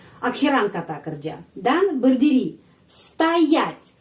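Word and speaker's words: стоять: Dan berdiri, stoять perenkanannya di sini karena itu o dibaca a.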